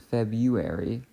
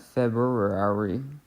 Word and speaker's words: February: answer to that question that R is doing nothing because we pronounce it February not February but anyway as we